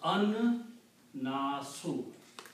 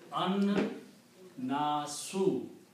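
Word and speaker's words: النَّاسُ: And in the Tajweed, when there is a Noon and Lam together, then you do not pronounce the Lam. It's a Shamsi letter, so pronounce An Nasu.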